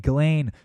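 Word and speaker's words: Ghislaine: him you know jillaine ghilane apparently you don't pronounce the S did you know that just not just Lane it's ghilane thank you a mere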